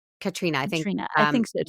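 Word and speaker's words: Caitríona: I don't know how you pronounce it, if it's Katrina or Catriona Belfi. I think it's Katrina.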